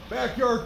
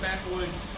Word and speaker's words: Backwoods: wish our friends from backyard performance a safe trip back home backyard performance baby what did I get your name wrong Backwoods Backwoods yeah Backwoods are you serious this entire